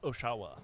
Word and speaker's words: Oshawa: Oshawa.